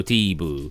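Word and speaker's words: スティーブ: Well, it'd be Sutebu, so Steebu. But you wouldn't pronounce the first U. You'd sort of just say Steebu.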